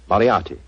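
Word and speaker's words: Moriarty: the way it looks m o r i a t y mariati mariati I shall remember that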